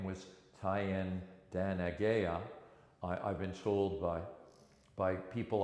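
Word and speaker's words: Thayendanegea: And in the winter of 1775-76, Joseph Brant, whose Mohawk name was Tyen Danagea, I've been told by people I trust that it's spelled TH, but it's meant to be a hard T sound.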